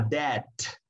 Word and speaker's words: debt: No se pronuncia la B. Cuando tenemos una deuda económica, por ejemplo, decimos I have a debt, debt.